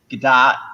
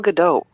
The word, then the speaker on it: Gadot: No, it's a hard T at the end. We looked it up. Hard T. That's how everyone else pronounces it. That's how the ask Israelis pronounce it.